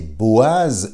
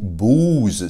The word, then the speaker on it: Boaz: c'est-à-dire respectivement Yakin et Boaz ou bous ça dépend comment on le prononce donc ici le temps